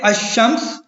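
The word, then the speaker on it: الشمس: लाम पढ़ा नहीं जाता, यानी लाम जो है वो साइलेंट होता है, जैसा कि अशम्स और अशम्स जो है वो इससे पहले अगर लाम आएगा तो वो साइलेंट होगा।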